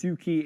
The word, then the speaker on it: SU7: the shumi uh Su su7 pronounced Suki in Mandarin here it is uh